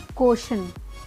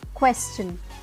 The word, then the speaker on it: question: अब इसे क्या बोलते हैं लोग? क्वेश्चन। वो गलत है। क्या होगा करेक्ट प्रोनाउंसिएशन? क्वेश्चन, क्वेश्चन।